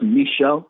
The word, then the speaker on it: Michel: I'm in a suburb of Philadelphia called Bear, Delaware, but it's pronounced Michelle, but you can call me Michelle. It's a lot easier to pronounce.